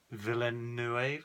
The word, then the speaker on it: Villeneuve: Villeneuve, how do you pronounce it? Denis Villeneuve. Villeneuve? Denis Villeneuve? Villeneuve. Yeah. Mm. It's French, isn't it? Yeah, well, French Canadian.